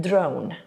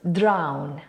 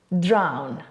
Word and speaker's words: drown: This word is pronounced drown, drown. And the technique to remember its pronunciation is think of the word down, which is just the same, but now we add an extra R.